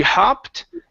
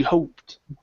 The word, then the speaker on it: hoped: job I shot um let's work on our oh sounds just a little bit okay so on this last word and said she hopped okay Oh give me an O sound Shiho she hoped she hoped good good I and the